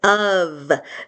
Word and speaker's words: of: Next is the word of.